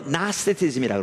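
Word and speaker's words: Gnosticism: 영지주의는 영어로 나스티즘이라고 합니다. 앞에가 G가 있습니다. 묵음인데요.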